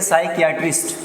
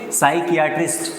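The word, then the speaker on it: psychiatrist: देखो पी यहां पर साइलेंट रहेगा। इसको हम पढ़ेंगे साइकट्रिस्ट। क्या बोलेंगे? साइकट्रिस्ट।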